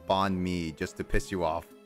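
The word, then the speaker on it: bánh mì: Bonmei. That's how you actually pronounce it. Not freaking bonmei, the Western pronunciation.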